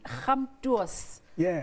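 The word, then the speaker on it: Gamtoos: Born on the farms of Human Stop, on the banks of the Khamtuos River. Is that how you say it? You pronounce it right.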